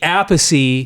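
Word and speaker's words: Appice: Vinnie Apey.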